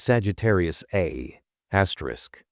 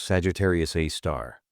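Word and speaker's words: Sagittarius A*: Its name is Sagittarius Asterisk, pronounced Sagittarius A star.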